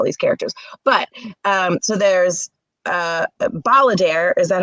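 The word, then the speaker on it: Balladaire: But so there's Balladeer. Is that how you pronounce it? Mm-hmm. Balladeer.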